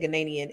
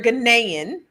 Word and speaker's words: Ghanaian: Last night I said Ghanaian and she had to correct me, but you're Ghanaian. I Yes. got to say it right.